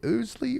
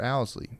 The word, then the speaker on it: Owsley: I have some family members with the last name Ousley is how we say it, but it's spelled like Owsley.